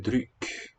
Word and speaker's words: dryck: Vin är en dryck. I think N. And this one gets spelled with a Y. Är en dryck. It's a different vowel from the verb to drink.